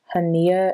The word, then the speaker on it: Hania: It's pronounced Hania, and it's an L parts invisible part wig.